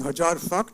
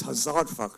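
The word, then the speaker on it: हज़ार: said by the way why are you saying hajar it's hazar so I said no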